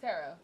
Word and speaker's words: tarot: You keep saying tarot. It's tarot.